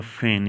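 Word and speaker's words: feign: फैन इस्तेमाल होता है यह नीचे वाला फैन यहां पर जी साइलेंट है यह वाला फैन है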